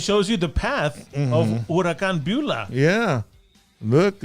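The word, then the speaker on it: Huracán: this album hurricane beulah no it's called urakan bula okay do you notice how it's spelled h-u-r-a-c-a-n you know what dude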